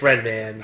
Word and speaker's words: Redman: Is it Redmond or Redman? It's Redman.